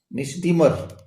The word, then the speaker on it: misdemeanour: ये स्पेलिंग आप देख लें, MISDEMEANOUR, मिसडीमर। N इसमें साइलेंट रहता है, मिसडीमर।